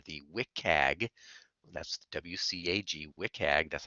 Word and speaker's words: WCAG: accessibility guidelines or the wit CAG that's WCAG WIC AG that's how we pronounce it version 2.0 the w3c is is